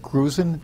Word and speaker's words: Grusin: The next speaker is Richard Grusin. Do I pronounce that right? S, not a Z. Grusin. Thank you.